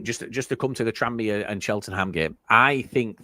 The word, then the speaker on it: Tranmere: It's just Tranmere. It's just like, there's no... What? Tranmere. Yeah. Boom. Perfect. There's no gap.